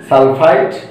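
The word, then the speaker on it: sulfite: Similarly এখানে আর এখানে যদি খেয়াল করি দুইটি একই, এখানে শুধুমাত্র এখানে 3, এখানে 4, তাহলে এখানে পড়বো আমরা সালফাইট, এখানে আমরা পড়বো সালফেট।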